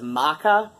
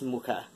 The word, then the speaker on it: Mucha: This is Mucha, after Alphonse Mucha, the, one of my exes insists on pronouncing his surname as Maka, which, like, even you go to Wikipedia and you play the little sample of how it's pronounced, and it sounds nothing, you know, like Maka. It's Mucha.